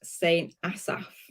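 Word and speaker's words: Saint Asaph: find the right deals um Allison said it's pronounced Saint Asaf saying assafsa yeah yeah uh just already just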